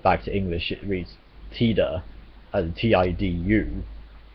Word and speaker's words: Tida: true like I said his name is written and pronounced in Japanese like Tida t-i-d-a and it is the Okinawan dialect word for sun Okinawa being a region